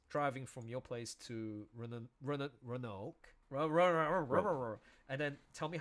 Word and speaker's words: Roanoke: You actually do pronounce the A. Roanoke.